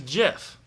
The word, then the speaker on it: GIF: It's a gif. It's not graphics, okay? It's graphics. It's a GIF. It's a hard G.